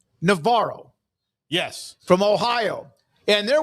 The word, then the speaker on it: Navarro: Let me tell you why I do that, because there's Navarro Junior College, used to be Navarro Junior College in Corsicana. I did a lot of their games. That's how they say it. It is Parker Navarro.